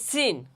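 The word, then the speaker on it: س: দেখেন আমি বলি জিহ্বার আগা সামনের নিচের দুই দাঁতের আগা এবং সামান্য মধ্যখান থেকে লাগাইয়া উচ্চারণ করতে হবে। সিন সিন আমি কিভাবে উচ্চারণ করি?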